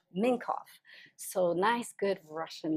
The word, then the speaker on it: Mincov: Mincov. Mincov.